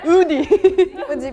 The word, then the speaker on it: Audi: only one I think French was the only different one UD because like in France if we have Au U together the pronunciation become o so we have to say UD UD UD I had the different